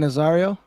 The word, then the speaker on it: Nazario: how do you say that eric come on nazario cuz ron nozzario um and this story right